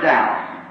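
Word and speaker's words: Daugh: I said, Brother Dow, can you hear me? He looked up at me. Not really in his name, he's a German, D-A-U-G-H, and I pronounce it Dow, I see.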